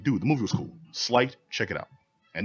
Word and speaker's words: Sleight: Sleight, check it out. And don't pronounce it Slate.